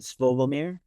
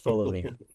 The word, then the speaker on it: Fomir: Uh and then the final track, again, hopefully I don't butcher this, but is it Fovomir? Is that right? It's Fomir.